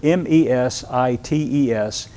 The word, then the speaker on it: mesites: In the Greek language, it's a Greek word, M-E-S-I-T-E-S, pronounced mesites. Mesites.